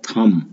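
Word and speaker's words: thumb: Then rule of थम। यहाँ पर जो टी एच यू एम बी है, इसमें बी साइलेंट होता है और पढ़ते हैं टी एच यू एम बी को थम, रूल ऑफ थम, अंगुष्ठ नियम।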